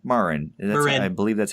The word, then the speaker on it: Marin: At least that's I've heard it pronounced both ways. My Hispanic friends pronounce it that way. I'll take them as authority over on that.